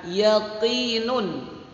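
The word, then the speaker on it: يَقِين: Kalau adik-adik semuanya menemukan bacaan yaqinun, yaqinu, yaqinin, yaqini, maka cara membacanya dibaca yaqin. Intinya kalau ada dhammatain di belakang ayat atau harkat dhammah atau kasratain atau harkat kasrah, maka ketika berhenti, berhentinya dimatikan. Di situ ajarkan cara membunyikan akhir kalimat ketika waqaf.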